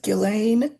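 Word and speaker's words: Ghislaine: Uh it is Gileain M and that is how you say her name so please don't try to correct me.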